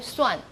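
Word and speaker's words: 蒜: is called Swan okay Swan and that's the same uh a homophone with the word to count Swan okay that to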